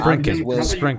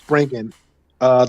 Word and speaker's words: Spriggan: You said- Sprinkin. No, Okay. Oh, my bad. Spring. Springen. I'm pronouncing We it said wrong, bro. Spring. It's Springen. Just like spring, SPRIGGAN. Okay.